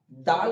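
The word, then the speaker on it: دال: এখানে যেমন দেওয়া আছে দাল, দাল বলার সময় আমরা উচ্চারিত করব যে জিভটা উপরের দাঁতের তলায় থাকবে, একটুখানি সামনের দিকটা দিয়ে উচ্চারিত হবে এটুকু দাল।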